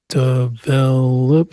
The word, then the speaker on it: develop: Condition stress on the second syllable. Condition. Develop.